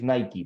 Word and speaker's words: Nike: are you know in in Spanish we pronounce Nike in English is Nike but it's the same